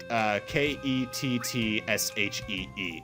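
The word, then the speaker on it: Cait Sith: big thing this is cake sip or as it's supposed to be pronounced and I was simply renamed him she she yeah she like ket TSH ee it's based off an old Celtic legend we've seen some catch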